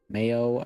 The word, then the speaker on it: Mayo: the Irish heo oh Mayo pronunciation much like the condiment right pran prohan is